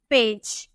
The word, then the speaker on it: page: लेकिन अगर हम बोले PAGE, तो हम इसे क्या बोलेंगे, पेज, जॉ। अब यहाँ पे आप देख रहे हैं जी का उच्चारण हम ग में किए और यहाँ जी का उच्चारण हम ज में किए।